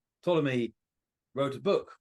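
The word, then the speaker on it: Ptolemy: a a Roman astrology called Tommy spelled PT o l m y Tommy silent P at the beginning Tommy wrote a book called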